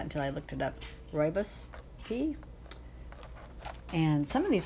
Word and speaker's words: rooibos: you know I didn't ever know how to pronounce that until I looked it up rooibos tea and some of these came from our